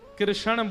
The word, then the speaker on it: कृष्ण: ठाकुर जी का नाम लोग अधिकतर कृष्ण शब्द का उच्चारण गलत करते हैं। कई लोग कृष्ण कहते हैं। कई लोग कृष्णा बोलते हैं। कई लोग कृष्ण बोलते हैं। बहुत उच्चारण उसका शुद्ध नहीं कर पाते। शुद्ध उच्चारण कृष्ण जय।